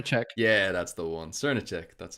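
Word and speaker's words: Srnicek: nick's turn to check yeah that's the one cernick that's how you pronounce it i know that certain check does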